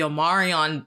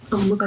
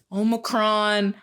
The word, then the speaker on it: Omicron: pronounce it, but like I just kept hearing people calling it the Omarion virus, and I was like, what is this called? So I was one of those people. I didn't read it completely, to be honest. I think I still say it wrong sometimes, but Brianna told me Omicron. Yeah, Omicron. That's what it's called.